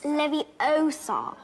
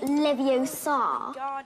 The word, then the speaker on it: Leviosa: take someone's eye out besides you're saying it wrong it's leviosa not leviosa you doing then if